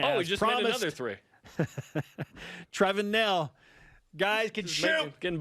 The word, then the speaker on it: Trevin: i mean trey then trevin trey we're going to put an artificial accent on the e now would you like